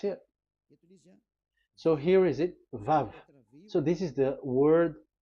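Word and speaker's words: ו: Vav. So it's V as in Vogue. So it's really V.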